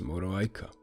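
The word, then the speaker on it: Moroaică: And at the end you pronounce it as Moreau Aika.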